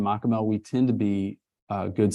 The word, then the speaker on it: Machamehl: Machamehl. That's it. Man, okay. Yeah, I would like to ask just the craziest pronunciation you've gotten on that?